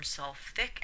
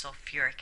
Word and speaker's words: sulfuric: And sulfate doesn't form sulfic acid, it forms sulfuric acid.